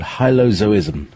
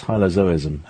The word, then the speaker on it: hylozoism: means uh everything um zo as in zoo as in um uh as as in animals uh or alive or sentient beings uh so that's hylozoism um or Hyo zois